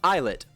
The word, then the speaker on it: islet: By the way, it's pronounced eyelet. I used to pronounce it Illet, so it's normal. Islet.